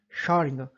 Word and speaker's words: Schrödinger: equação de onda de Schrödinger. Bom, o nome dele é um pouco difícil a pronúncia mesmo. Quando a gente pronuncia parece que está falando a palavra Sharingan, né? O Sharingan lá do Sasuke.